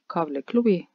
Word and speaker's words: Kabli klubi: Probably the difficulty of this tongue twister cames from the changed order of the consonats. Right? You have to change the k-l-b order to a k-l-b order. And they are voiceless consonants – except the “l”.